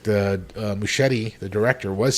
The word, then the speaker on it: Muschietti: Muschietti?